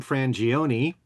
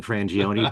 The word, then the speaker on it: Frangione: In Italian, you pronounce every letter.